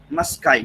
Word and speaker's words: Musci: इसको कैसे प्रोनाउंस करेंगे हम? मस्काई। ठीक है, MUSCI, मस्काई।